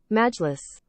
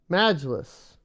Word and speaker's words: Majlis: Not sure if I pronounced that right. Let's go get a pronunciation of this real quick. I would rather just learn it. How do we do this? Pronunciation. Here we go. Majlis. Majlis. That's makes a lot more sense than the way I tried to say it. I try to say it way too fancy, bro.